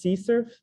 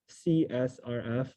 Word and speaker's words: CSRF: it's sometimes also known as xsrf this is pronounced c surf or csrf you can pronounce it both ways and this